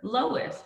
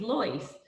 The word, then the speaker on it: Loyce: firm with her and this lady kept calling her lois but her name is loyce and she kept saying